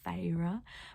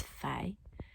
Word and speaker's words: Feyre: also her name right in the book they mention how it's like two syllables they sound out like feyre but the whole time i've been reading the series in my head i've been saying it's faye so now i can't